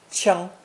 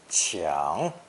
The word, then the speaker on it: 抢: strike, hit, or knock, pronounced first tone, 枪, 枪. But more commonly in spoken Mandarin, it's pronounced third tone, 抢, 抢, meaning to snatch, rob, take by force, or rush to get something before anybody else.